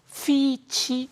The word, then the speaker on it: Fitch: 큽니다 박사님 피치라고 그러셨죠 우리나라 사람들이 이게 피 발음하고 F 발음 요게 저도 이게 잘 안 돼서 굉장히 헷갈리는데요 피치하면 이게 복숭아잖아요 이번에 나온이 신용등급을 미국에 대해서 떨어뜨린 것은 피치가 아니고 피치 이것도 저도 잘 안 됩니다만은 ft fitch 신용등급 잘하시네요 감사합니다 자 우선